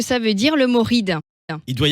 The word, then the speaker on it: Ried: différents dialecte alsacien et ça se prononce bien ride même si ça s'écrit r i e d et ça viendrait en